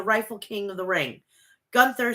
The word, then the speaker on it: Gunther: say gun Gunther It's A Gunther it's not gther it's Gunther okay I'll start saying it Gunther then starts off by saying he defeat he